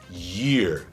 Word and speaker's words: year: Você vai falar year, como se você tivesse dois Is, como se você fosse falar dois Is em sequência.